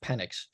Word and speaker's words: Penix: I think they take penix Jr I I or penx it's pronounced penck I think they like